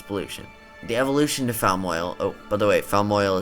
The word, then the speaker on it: Falmoil: Hence the silent L in the name would be like the other two popular regional fish.